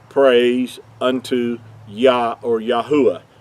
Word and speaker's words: Yahuah: praise unto yah or yahuwah yahuwah being his whole name pronounced out with the four letters instead of the two so i wanted to